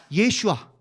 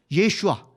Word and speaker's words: 예슈아: 대한민국 기독교인 다 지옥이요 예수님의 본명 원 발음은 예수가 아니고 뭐라고요 예슈아 예슈아 수아도 아니에요 수아는 여러분